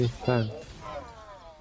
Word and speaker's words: Li Fang: Well, for the CN VA, they pronounce his name as Li Fang. Leave it to me. Li Fang.